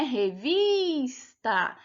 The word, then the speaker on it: revista: sílaba tônica não né quando a gente pronuncia a gente percebe que é uma vice né revista então ela era uma paroxítona e não oxítona então era uma questão